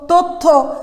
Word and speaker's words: তথ্য: জফলা শব্দের মধ্য বা শেষ বর্ণের সঙ্গে যদি থাকে এবং জফলা যদি শব্দের মধ্য বা শেষের বর্ণে থাকে তাহলে জফলাযুক্ত বর্ণের উচ্চারণ দ্বিত্ব হবে, মানে দুইবার হবে। সেক্ষেত্রে কি করতে হবে, যদি এরকম থাকে পদ্য বা গদ্য বা কথ্য তথ্য, যদি এরকম থাকে প্রত্যেকটি ক্ষেত্রেই কিন্তু আমরা জফলাযুক্ত বর্ণকে আমরা দুইবার উচ্চারণ করেছি।